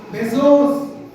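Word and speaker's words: Bezos: சொன்னார் அவர் யாரு அப்படின்னா பெசாஸ் அப்படிங்கிறவர் ஜெப் பெசாஸ் சில பேர் உச்சரிக்கும் போது பெசோஸ் அப்படின்னு உச்சரிக்கிறார் இன்னைக்கு அமேசான்ல நான் உடனடியா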